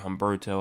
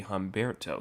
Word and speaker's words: Humberto: Um Hberto, I just real I um checked actually the pronunciations today. I see multiple people calling it Humberto.